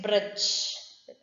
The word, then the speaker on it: bridge: Next, bridge. So there also D is silent.